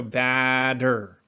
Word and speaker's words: batter: So batter, batter. And what you could do, or what we most likely do, is we anticipate that D sound, even though we do spell it with the T, we anticipate that D sound for batter, and we raise this ah sound a little bit more than we usually would.